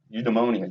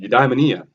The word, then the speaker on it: eudaimonia: calls the supreme good eudemonia i said it right you demonia you diamondia however you want to say it okay flourishing a